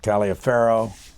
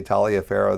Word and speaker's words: Taliaferro: Well, it's obviously an anglicized pronunciation. My family ancestors originally came from Italy, but they got to this country very early into Virginia, into the 1600s, and I'm sure that the pronunciation got stepped on for many years.